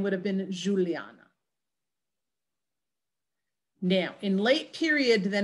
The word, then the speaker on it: Juliana: So if you say my name in modern Spanish, it's Juliana, right? But it wouldn't have been in the 16th century or older.